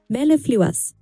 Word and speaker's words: mellifluous: Say it slowly with me. Mel, leaf, lu, us. Melifluous. You've got it.